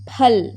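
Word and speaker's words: फल: Pa, pa, phal, phul. இதை வந்து ஃபேன்னு சொல்லக்கூடாது, ஃபல் அப்படி சொல்லக்கூடாது, ப.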